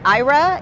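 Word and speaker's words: Aira: kind of eyeing these IRA is it pronounced iris smart glasses yes yeah a little bit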